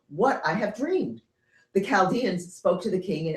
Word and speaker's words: Chaldean: Often in English, we pronounce that with a hard Chaldean. Chaldeans? Yeah. Oh. So well, it could be either, but usually I hear it with Chaldean.